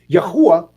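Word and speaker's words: Yahuah: they spell it y-a-h-u-a-h yahuwah instead of yahweh because some people may pronounce the h sound with ha and some may pronounce it with who but the problem comes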